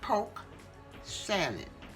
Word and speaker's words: polk sallet: Okay, it's done cooled off a little bit, and this is poke salad. I think it's spelled P-O-L-K, or even P-O-K-E. Salad, S-A-L-A-D, or S-A-L-L-E-T.